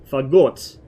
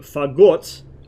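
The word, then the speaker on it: Фагот: let me assume that in Russian it's pronounced with the stress on the second syllable, like most words are in Russian. Fagot, which means bassoon, because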